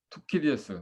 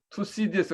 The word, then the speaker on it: 투키디데스: 투키디에스. 서양 사람들은 투키디에스 안 그러고 투CDS 그러더라고. 투C, C로 발음합니다. 우리는 이제 그리스식으로 TK로 발음하는데 누가 또 안 끈 것 같은데 끄겠습니다.